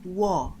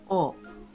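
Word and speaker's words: を: However, we don't pronounce this letter wo anymore in modern Japanese. Instead, we say o.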